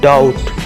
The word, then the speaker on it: doubt: DOUBT डाउट, यहाँ B silent है.